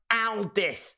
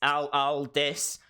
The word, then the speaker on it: Aldis: Can someone please tell Daze that it's pronounced Aldis? Aldis. as in when you get Nick, you get Aldis.